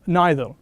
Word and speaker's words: neither: lesson using so or neither you can say neither you can say neither it's both pronunciations are acceptable ok so and the